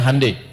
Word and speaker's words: Hyundai: dia bikin handundai ya ya Hyundai saya tahu bahasanya dibacanya hundai ya Apa saja Jepang masuk